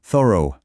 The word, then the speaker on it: thorough: Thorough. Attention, ici il y a 2 syllabes. On va le couper en 2 pour que ce soit plus simple. D'abord thir, puis o, ce qui nous donne thorough.